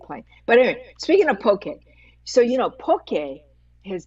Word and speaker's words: poke: feel when you hear people mispronounce poke they they say pokey pokey I'm going it's a poke it's a Hawaiian word so two things two